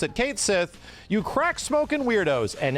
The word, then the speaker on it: Cait Sith: in the I guess localized version of ff7 it's pronounced Kate Sith just so that everybody